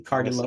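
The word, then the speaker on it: Cardillo: They will be giving out awards by Cardilo weight belts. Did I pronounce that correctly? Cardilo.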